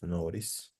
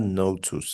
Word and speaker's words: notice: want okay so uh let's listen to the pronunciation of notice notice notice okay so it's not not notice